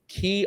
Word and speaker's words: Quay: I'd love for you to welcome Katherine Cousins, who is the CEO of QUAY Optical. And I'm sure you've seen QUAY, if you know it's pronounced QUAY, not QUAY.